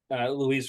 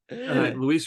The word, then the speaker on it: Luis: kind of surprised that Louise Robert is oh God darn it sorry Louie Louise Luis Roberto Jr is the top seed